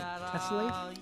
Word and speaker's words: Tessellate: Is it Tessellate? Yeah. Mm-hmm. Is that how you pronounce it? That's exactly it.